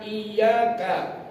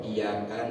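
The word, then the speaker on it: إيّاك: mengetahui makna iyyaka, makna lafaz iyyaka bitasdid yang bacanya tanpa tasdid. Iyyaka, iyyaka, bukan iyyaka tapi iyyaka.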